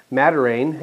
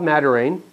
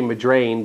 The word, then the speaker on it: Madiran: It's an area called Madiran. I assume we're pronouncing it correctly. I keep wanting to say Madrain, but that's not it because that's the me flipping the letters around.